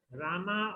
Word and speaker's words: Rama: krishna krishna krishna and rama rhymes with drama are sanskrit words hare